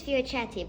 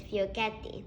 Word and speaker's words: Fiocchetti: Today I'll be reviewing, in English it's Fiocchetti, but in Italian it's Fiocchetti. Well, as my mother says.